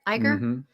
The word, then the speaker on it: Iger: that's not nice uh Bob Iger that's how you say it Iger uh we'll make things